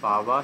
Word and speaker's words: পাবা: পাবা তেনুপং কমিশন যেখানে পাবা সেখানে যাব পাবা যে হচ্ছে এই বটা অন্তস্থ ব এইটাই ইদরানিং কালে পাওয়া পুরি বলে না ব যে উচ্চারণ হছে হিন্দি ভাষীদের হিন্দি ভাষীরা ঠিকই বলে বাঙালিরা পাওয়া বানিয়ে দিয়েছে